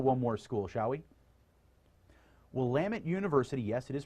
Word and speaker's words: Willamette: Willamette University, yes, it is pronounced Willamette, is again ranked in the top 75 national liberal arts colleges.